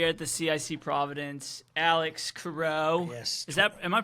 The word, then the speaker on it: Cureau: Curo Curo. My parents hate when I say Curo, but I'm like I mean it's bureau with a C.